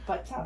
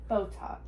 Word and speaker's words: Botox: Buttocks. Buttocks? Buttocks. We'll put that on the list next time. Words for you to pronounce. Okay, can you teach me? Botox.